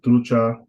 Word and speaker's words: trucha: So words like trucha, that's two syllables. If it's two syllables, it's going to be on the first one because that's the second to the last.